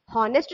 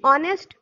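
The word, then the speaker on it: honest: ऑनेस्ट, हॉनेस्ट तो हमने पढ़ा नहीं, ऑनेस्ट। जब हम ऑनेस्ट बोल रहे हैं तो हमारा किसका प्रोनाउंसिएशन हो रहा है, ओ का प्रोनाउंसिएशन हो रहा है ना, ऑनेस्ट, ऑनरेबल। तो इसलिए हम उसके पहले क्या यूज करें, एन यूज करते हैं, क्योंकि एच हमारा क्या है इनमें, साइलेंट है, एच का प्रोनाउंसिएशन नहीं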